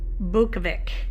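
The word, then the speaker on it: Zbukvic: Okay, Joseph Z's Cool Gray is after an artist by the name of, I think you say it, Joseph Bukovic, and you don't pronounce the Z.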